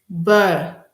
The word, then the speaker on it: boire: To drink is boire. Boire. Boire, sorry. To drink is boire. O-I is pronounced as wa.